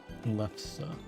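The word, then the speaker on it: lefse: How do you pronounce it again? L E F S E left. Oh, it's left. Left saw.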